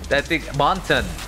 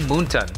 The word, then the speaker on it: Moonton: I think that's a question for Moonton. Moonton. Monton. That's how you say it. I keep saying Moonton for some reason.